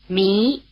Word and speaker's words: Mí: Mí, Mí, Mí Notice the vowel sound "i" is spelled with an I as in Tahiti.